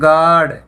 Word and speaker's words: guard: जैसे GUARD बोलते हैं गार्ड। गार्ड होता है चौकीदार, तो यहाँ पे यू साइलेंट है।